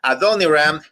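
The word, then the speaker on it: Adoniram: y la definición correcta la pronunciación correcta es a Don iram y en Johnson eso es los nombres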